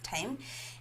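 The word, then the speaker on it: thyme: is referred to as time it's pronounced as time and it it's it's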